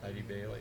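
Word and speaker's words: Eide Bailly: Is that how you ID pronounce it? Bailey. ID Bailey, yeah.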